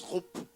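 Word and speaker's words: שוב: Ça c'estécrit c h oub, mais ça se prononce roupe.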